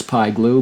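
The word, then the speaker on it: Pie Glue: one of those expressions PI glue but it rhymes with I do do you take the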